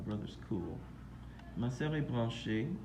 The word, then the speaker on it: branchée: Ma sœur est branchée. You just add an extra E. The pronunciation doesn't change.